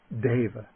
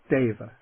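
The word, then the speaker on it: deva: The e is pronounced like the a little bit like the a y in the word way. Okay. The word for a god is da. Dava. That's an e. Dava.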